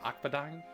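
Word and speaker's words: Akbadain: Akadine.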